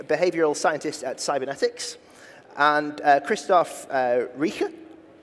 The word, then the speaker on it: Christoph Rieche: And Christoph Rieche.